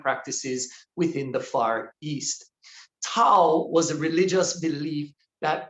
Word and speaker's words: Tao: And though Toastmaster Joni did her best to pronounce it right, it is Tao.